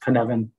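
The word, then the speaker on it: Cynefin: companies and it's pronounced kanevin um and it comes from a welsh word um so what does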